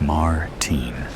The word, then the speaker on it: Martin: He pronounces Martin in the American way, rather than the way I prefer it. Martine.